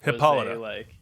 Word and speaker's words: Hippolyta: the important part of her character though hippolyta hippolyta yeah that's how it's pronounced it's a famous shakespeare character yes there's